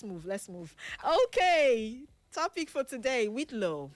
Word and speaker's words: whitlow: That's the spelling of Whitlo and is pronounced as spelled.